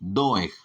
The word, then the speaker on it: Doeg: Lo vamos a decir como se escribe aquí, Doeg.